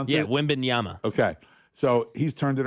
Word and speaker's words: Wembanyama: Is that how you pronounce it? Yeah, Wembanyama.